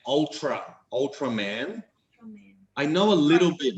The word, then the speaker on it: Ultraman: Do I know Unterman? Yes. I do know Unterman. In English, we pronounce it Ultraman.